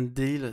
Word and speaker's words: Dalziel: Ryan Dehill, c'est comme ça qu'il faut le prononcer. C'est toujours Oui, un, parce que c'est Dalziel, mais c'est on toujours un dit Ryan calvaire. Dehill.